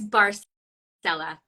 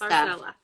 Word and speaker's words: Barsaleh: Yeah, I was like bar mitzvah, but Barsaleh. So the bar is like son of, Selah in Hebrew is rock. That's Barsaleh.